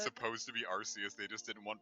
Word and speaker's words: Arceus: how passive-aggressive I've been are the people that pronounce it Arceus like even though you said it's supposed to be RC as they just did in one British children laughing